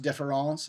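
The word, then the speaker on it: différance: a deliberate misspelling now in French French it would still be pronounced difference in English it would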